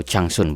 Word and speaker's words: Zhangsun: Changli ini anaknya permaisuri yang lain, namanya permaisuri Zhangsun atau Changsun bacanya.